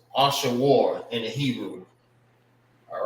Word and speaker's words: Ashur: And how you say his name in the Hebrew is, I'm gonna write over here, Ashawar. Ashur. It's Ashawar in the Hebrew.